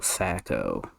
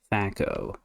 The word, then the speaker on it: THAC0: Let me tell you about THAC0, or THAC0, or even THAC0 as one of my cousins pronounced it. THAC0. Two-hit AC 0.